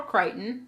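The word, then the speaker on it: Crichton: is the written by Michael kryon yes that is how you pronounce his last name or yeah Michael kryon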